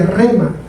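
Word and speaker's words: ῥῆμα: Y aquí se usa una palabra que se en el original se pronuncia rema.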